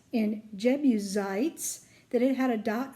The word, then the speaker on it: Jebusites: Did you notice that in the S in Jebusites that it had a dot over it? That means that the S sounds like a Z instead of an S.